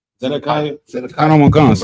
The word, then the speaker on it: Zedekiah: Who's how you pronounce his name? Zedekiah.